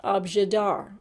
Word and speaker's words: objet d'art: then handed it to pearl this word is pronounced abjadar and i want you to say it for